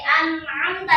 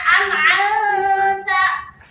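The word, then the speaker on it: أَنْعَمْتَ: Ini an'amta, jangan dibacanya an'amta.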